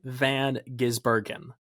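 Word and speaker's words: Van Gisbergen: know because you may not have heard it pronounced correctly if you watched the phrase is Shane Van gizbergen yeah well I'm just going to say it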